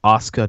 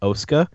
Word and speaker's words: Asuka: Global Wars, it's fucking Asuka, not Oska.